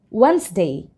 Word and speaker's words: Wednesday: our sentences like this so handkerchief and handsome pronounced word okay so wedes day Wednesday Wednesday Wednesday Today is Wednesday Wednesday for example today